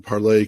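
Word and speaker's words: Parler: paror U well it's it's supposed to be pronounced parlay but no one does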